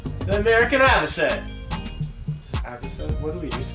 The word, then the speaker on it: avocet: It's the opposite of what we used to call it. That's what I know. Advocate. It's avocet.